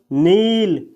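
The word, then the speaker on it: kneel: अगला वर्ब है दोस्तों नील इसमें के का उच्चारण नहीं किया जाता है साथियों यह लिखा है नील नील का हिंदी मीनिंग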